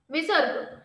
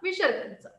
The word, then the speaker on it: विसर्ग: को विसर्ग कहते है इसका उच्चारण ह के समान होता है हा जो बिंदू तुम्हाला